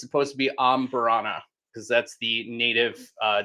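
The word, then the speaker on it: Amburana: I I've had really great ombberanas and I've had really polarizing amberanas.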